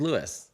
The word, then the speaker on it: Luis: It's an American version of Luis. Is Lewis.